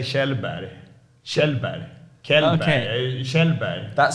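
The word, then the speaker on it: Källberg: pronounced okay you say kellberg we say in Sweden Anon Shel yeah because the K with the a is like shell like shping correct yeah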